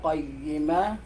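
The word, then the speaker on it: قَيِّمَة: Okay, parang yung ya ay nagiging shadid. Ayan. Nagiging matigas yung pagbigkas mo dun sa ya. Samantalang ito ay lin. So, dapat ay qayyima.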